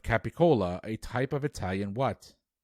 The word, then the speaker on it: capicola: staple in mob movies gabagool is one pronunciation of capicola a type of italian